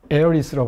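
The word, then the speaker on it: Heiress: 봐야 되는데 여기에 이제 상여란 뜻인데에 에어리스로 발음하죠 에어리스 이게 워싱턴 스퀘어가 원작입니다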